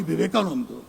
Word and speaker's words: Vivekananda: Of course, he got one thing wrong. It is pronounced Swami Vivekananda.